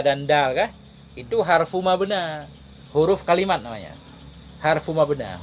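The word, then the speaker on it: مبنى: Harfu mabna. Harfu mabna. Bukan mabni. Fa inna kullan minha harfu mabna. La harfu makna. Nah, itu baru benar. Nanti kita paham cara baca kita. Kalau ya enggak ada titik, kita baca di belakangnya fathah. Mabna kan? Kalau ya-nya ada titik mesti mabni. Enggak boleh mabna.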